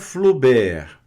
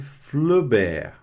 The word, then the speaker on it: Flaubert: Gustave Flaubert, não pronuncia o T, Flo, né? A U da O. Gustave, né? Tem esse E aqui, o V vai ficar mudo aqui, sem o E. Gustave Flaubert.